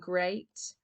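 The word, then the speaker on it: great: don't call it deed watch out for meat and Grate and threat they rhyme with sweet and straight and depth and moth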